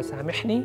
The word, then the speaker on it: سامحني: certainly master it أرجوك سامحني ميم ح سامحني please forgive me all